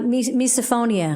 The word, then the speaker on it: misophonia: How do you pronounce that? Uh, misophonia.